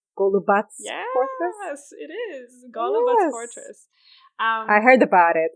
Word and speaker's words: Golubac: I know your third pick, but I don't know how to pronounce it. Okay. Golubac Fortress? Yes, it is. Golubac Fortress.